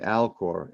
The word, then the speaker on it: Alcor: all back misar and alcor m-i-z-a-r mesar and alcor a-l-c-o-r not to be confused with al gore okay uh misar and